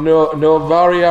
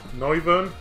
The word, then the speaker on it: Noivern: Novaria or whatever that's how you pronounce it? Noivern. Oh yeah, because like Wyvern and Noivern, yeah, sorry.